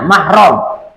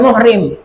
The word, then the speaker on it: mahram: seperti ini banyak Bu misalnya mahram ya jangan dekat dong jangan dekat-dekat kita kita kan bukan muhrim salah itu sebenarnya yang benar itu mahram